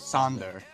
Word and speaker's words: Sander: Is it Sonder, Xander, or Sander? Well, the common pronunciation is Sander, but the real pronunciation, the Dutch pronunciation, is Sander. Yeah.